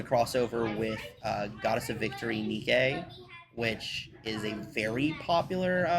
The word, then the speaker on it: Nike: Yeah, no, Nikkei. You mean the Goddess of Victory? It Nike? is Nikkei. You mean Nike? Um, Because it's Nike. Literally how it's pronounced.